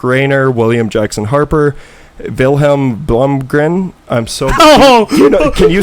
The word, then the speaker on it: Blomgren: I'd say Wilhelm Blomgren. Perfect. That's perfect. Blomgren?